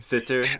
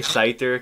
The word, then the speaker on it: Siter: Siter, okay. I like to say Siter because it sounds like spider.